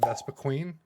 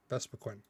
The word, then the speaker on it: Vespiquen: Vespiquen, which I, for the longest time, called it Vespiqueen, but it's just only one E, so is it still Queen? Vespiquen? I think it's Vespiquen, but Vespiqueen is what I said for a long time growing up. So I realized there was no second E. Well, I guess third E, but second E at the end.